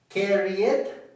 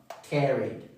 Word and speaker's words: carried: Carry it. No. Carried.